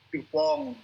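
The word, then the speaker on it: DuPont: orang Prancis ini ya orang Perancis itu kan dia baca dupon itu kan bacanya dupong Ya kemudian kalau saya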